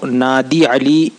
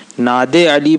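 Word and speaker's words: نادِ علی: کو اجازت دیتا ہے۔ یہ ناد علی میں دال پہ زیر ہے اور عربی لہجے کے حساب سے معروف پڑھیں تو نادی علی ہوتا ہے دال کے زیر کے ساتھ، اور عموماً ناد علی پڑھتے ہیں جو مجہول لگتا ہے، تو صحیح طور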